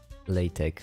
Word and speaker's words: LaTeX: Text you pronounce tech. LaTeX.